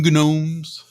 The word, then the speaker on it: gnomes: but yeah it's argon gnomes g is silent in the english language wow what a what